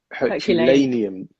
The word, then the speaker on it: Herculaneum: Herculaneum. Like Hercules.